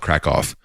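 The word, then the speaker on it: Kraków: have you been to Krakoff it's it's spelled Cracow the locals call it crack off but it they would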